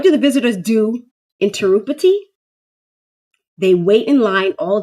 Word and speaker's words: Tirupati: What do the visitors do in Tirupati?